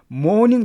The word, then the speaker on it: mourning: 그러면 mourning day는 뭐거든요? 애곡의 날, 뭐 애통하는 날, 그 정도로 보시면 되겠습니다. 참고로 이 mourning은요, 아침할 때 mourning과 발음이 똑같습니다.